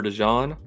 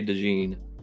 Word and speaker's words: DeJean: attempts their defensive back Cooper to John I believe that's how you say it I saw somebody say DeJean I think it's DeJean has three interceptions already